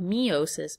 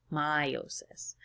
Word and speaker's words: meiosis: We're going to now talk about meiosis, sometimes called meiosis, but I'm going to pronounce it meiosis.